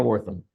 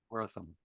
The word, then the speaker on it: Wortham: Tell me the correct family pronunciation. You got it correct. Wortham. Wortham, Wortham.